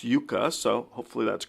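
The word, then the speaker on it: Jukka: wrote in the comments it's not Juka it's Yuka so hopefully that's correct and it's Yuka I'll pronounce it correctly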